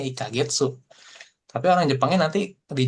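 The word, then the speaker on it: 一ヶ月: Ini artinya sebenarnya sama, cara bacanya juga sama ya. Ikagetsu.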